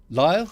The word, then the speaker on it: Lyle: Is it Lyle? Lyle? Yeah, correct. That is correct.